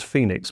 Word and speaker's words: Fenix: was Astrogama but whose brand name was Fenix and FEX originally pronounced Phoenix but we lost control of the pronunciation had become the market standard for option pricing.